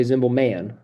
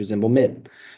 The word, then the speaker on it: Zimbelman: And then Min, okay, it doesn't say, I don't say Zimbelman. My name's not Mr. Zimbelman, it's Mr. Zimbelman.